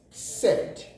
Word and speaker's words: said: Digraph AI will as well give us E. Consider this word as SAID pronounced. We call it said. Said, SAID will give us said. Therefore, E will be realized from there.